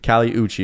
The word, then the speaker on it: Kali Uchis: Kali Uchis is how you say it.